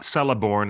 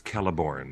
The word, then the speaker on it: Celeborn: the first time like it's not celeborn it's kelleborn yes um everyone in the